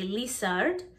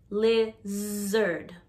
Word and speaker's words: lizard: little tip when trying to pronounce the z sound put your hand right here on your throat when you say lizard if you feel a vibration right here you're saying it correctly but if you don't feel a vibration you're probably saying the s sound or j sound like some spanish speakers might say lissard and koreans would say leisured so put your hand here le zerd you should feel vibration the next word is